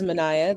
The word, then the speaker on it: Manaya: My name is Manaya. That's 3 syllables, 6 letters.